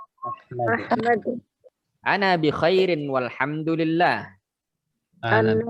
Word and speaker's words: أحمد: أحمد Nah, mimnya tidak usah dipanjangkan. Ahmad. Ahmad.